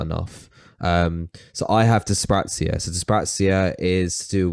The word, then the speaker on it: dyspraxia: it's the sprouts here so it's dyspraxia that's how it's pronounced yeah there's dyslexia and